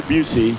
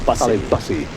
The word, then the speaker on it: Bussey: Is how you pronounce it? And I'm being sincere. That's what I heard. Okay. Yeah, not Gary Busey. Gary Bussey. It's Riley Bussey.